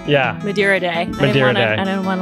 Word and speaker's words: Madeira Day: Madeira Day.